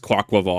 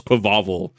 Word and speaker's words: Quaquaval: This is the first time I'm hearing it's pronounced Quaquaval. I thought it was Quavaval.